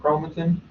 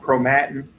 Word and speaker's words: chromatin: arrangement called chromatin uh some folks may pronounce that chromatin again i was taught chromatin uh i've heard it pronounced chromatin in the past uh and then one